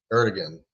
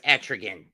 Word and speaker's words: Etrigan: You ever heard of a character named the demon Etrigan? Erdogan, yeah. It's pronounced Etrigan.